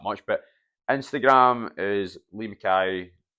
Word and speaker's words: MacKay: None of this MacKay, MacKay, all this stuff. It's a traditional Scottish spelling. Get it right and pronounce it right.